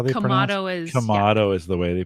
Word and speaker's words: Kamado: you've corrected me I've always called these guys kodo but they're kamado right is the is is that how they pronoun kamato is the way they pronounce it um did